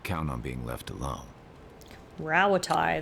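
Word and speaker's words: Rauatai: Rawatai, that's how you pronounce it.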